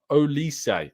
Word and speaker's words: Olise: um and he says um hi Tom it's pronounced olise oh like uh Michael olise thank you so